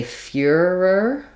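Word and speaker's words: Führer: the E tongue um in English we would probably say fuhrer like fear ER fewer um it's a little bit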